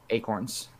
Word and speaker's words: Acorns: I believe it's just pronounced acorn. Not No, acorn. it's Acorns. What? Acorn. It's With an S?